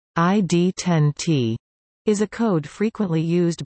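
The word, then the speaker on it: ID10T: in ham radio usage ID 1 ot pronounced ID 10 T is a code frequently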